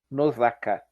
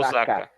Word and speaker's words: Nosaka: Só corrigindo uma coisa, Janúncio, é Akiyuki Nozaka. Nosaka. Nosaka.